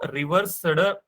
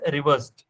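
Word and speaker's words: reversed: वी डू not pronounce it, we simply से इट एज रिवर्स्ड। उसको exaggerate नहीं करना ईडी को। ठीक है, ईडी नहीं बोलना, रिवर्स्ड।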